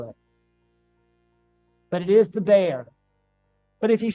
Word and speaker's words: Bexar: the bear dude I'm sorry I always say Bexar even though I know it's from Bear County Texas it's pronounced there even though it's spelled Bexar I